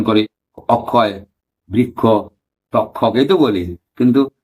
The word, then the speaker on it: অক্ষয়: বাঙালিরা কি উচ্চারণ করি অক্ষয় বৃক্ষ তক্ষক এইতো বলি কিন্তু লেখার সময় কি লিখতেছে ক যোগ মূর্ধন্য সাই না এভাবে উচ্চারণটা কিভাবে আকসায় বৃক্ষের এইতো কিন্তু আমরা উচ্চারণ করি অক্ষয় বৃক্ষ এই যে উচ্চারণ করে